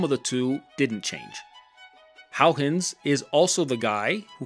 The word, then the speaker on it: Huygens: he was Dutch, and I don't speak Dutch, but I believe his name is actually pronounced Huygens.